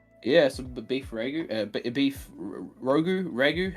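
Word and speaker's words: ragù: Beef ragu. How do you say it? Ragu? Ragu. That's the one.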